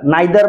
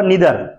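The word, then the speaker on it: neither: তারপরে each every on no enough আইদার বা ইদার নাইদার বা নিদার দুইটাই সঠিক উচ্চারণ ওয়ান টু এরকমভাবে যতই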